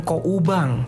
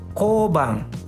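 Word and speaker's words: 交番: Nah, di sini pengucapannya bukan ko ubang, tapi seperti melafalkan O dengan O. Jadi kobang. Kobang.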